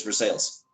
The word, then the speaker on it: Versailles: pronounce the town wrong versailles no in kentucky we they really don't pronounce it correctly they really pronounce it as for sales it's versaille i know